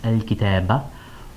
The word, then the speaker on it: الكتابَ: So, al-kitab with a fatha here, pronounced al-kitaba, or on an indefinite noun with fatha tanween.